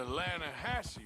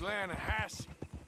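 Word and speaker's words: Lannahechee: some beautiful steelhead trout you mean the lahash river no no no no no no the the lah hatche it runs right near here yeah but it's pronounced lasse why is everything in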